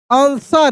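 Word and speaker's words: answer: एन gov them an आंसर। यहां भी W silent है।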